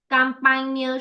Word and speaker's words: campagne: Whenever you see your words ending in GNE, campagne, champagne, montagne, make sure that your GNEs are pronounced as near.